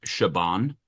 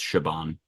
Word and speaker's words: Siobhan: it's the Irish pronunciation I think it's shabon I might be wrong I think you're right sioban I just know the American pronunciation because I had a friend named Siobhan growing up there you go right the American pronunciation seal ban I introduced the little